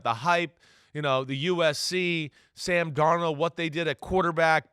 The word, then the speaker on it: Darnold: First question about Sam Darnold. Do you remember how you pronounced his name 7 years ago? Darno? He was French. He was French. Constantly. I know. Amor Fati. Yeah, I know. Sam Darnold.